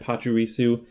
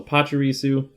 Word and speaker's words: Pachirisu: And according to, I looked at the show on YouTube, they were pronouncing it Pachirisu.